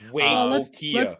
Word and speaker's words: Waitokia: I think it's Waitokia, but yeah. Oh, Waitokia. See, the pronunciation is right. Emphasis not so right. So we're making progress though, so it's okay. It's Waitokia.